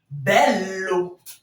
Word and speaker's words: bello: Donc, le fait qu'il y ait les deux M ici, ça rend la prononciation à ce niveau plus étirée. Imagine. Tout comme ici. Bello.